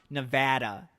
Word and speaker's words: Nevada: And Nevadans got mad because they say it's officially pronounced Nevada. And so I wrote, no, it's Nevada. It's a Spanish word.